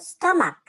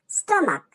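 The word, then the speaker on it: stomach: মত উচ্চারণ হয় দেখ স্টমাক এখানে সিএইচ এর উচ্চারণটা ক এর মত স্টমাক এইখানে কিন্তু অনেকগুলো স্টমাক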